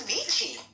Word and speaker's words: Avicii: It's Avicii.